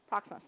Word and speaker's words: proxenos: Now, I'm not too good at pronouncing words, So I'm going to try. Proxenos. Hopefully that's correct. Proxenos, thank you.